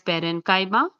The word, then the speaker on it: parenchyma: So these are pronounced as parenchyma, collenchyma, sclerenchyma, and they come under the category of simple permanent tissue.